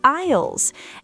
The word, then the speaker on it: aisles: Don't forget the aisles in the supermarket. Remember, the S is silent. Right, the aisles.